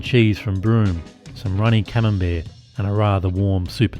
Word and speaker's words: Camembert: "That's how they do it in Melbourne," she said to her sister. "All fancy like, Camelbert and wine." I have a giggle at her mispronunciation.